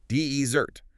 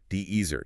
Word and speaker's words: desert: The stress is on the first syllable. Dezert. Dezert. It also has two syllables, but that initial punch, that emphasis on the de makes all the difference.